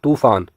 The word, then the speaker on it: तूफान: है शुद्ध उच्चारण है अगला शब्द है तूफान हम में से कई लोग इसका गलत उच्चारण करते हैं तूफान कहते हैं जबकि इसका शुद्ध प्रयोग होगा तूफान अर्थात त में दीर्घ उ की मात्रा जुड़े गी शब्द बनेगा तूफान और यही इसका का